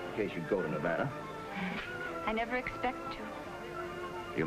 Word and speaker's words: Nevada: By the way, that's pronounced Nevada. I notice you give it the broad ah.